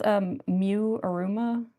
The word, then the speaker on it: Miu Iruma: It's pronounced Miu Iruma. I mean, if you say it like in Japanese, it'd be like, you know, like Iruma Miu.